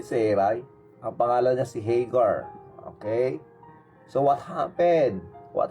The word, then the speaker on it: Hagar: Pag sinabi ko kasing Hagar, parang Haggard. Sasabihin ng mga magaling mag-English dyan, hey, it's Hagar, not Hagar.